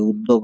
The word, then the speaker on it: উদ্যোগ: সংস্কৃত উচ্চারণের নিয়ম অনুযায়ী উদ্যোগ এটা হতে পারে। এই জ ফলাটা জ হিসেবে হতে পারে। কিন্তু বাংলা উচ্চারণে এটা অবশ্যই উদ্যোগ হবে। উদ্যোগ হবে না।